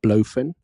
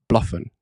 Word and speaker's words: BloFin: the team it's not blof okay I see a lot of people say blof it's not blof it's Bluffin okay that's apparently the correct